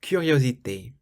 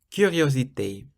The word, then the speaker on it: curiosité: Or curiosité. Curiosité means curiosity, so it's a K, curiosité.